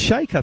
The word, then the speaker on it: Shaker: We've got Catherine, and I'm told by Catherine Shaker, can I just mention that number 4 for Geelong, Meg Shaker, is pronounced Shaker.